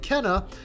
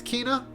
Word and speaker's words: Kena: about a girl named kenna uh or kina i can't really pronounce the name i think it's kinah some people say kina in the game some people say cannot oh there is voice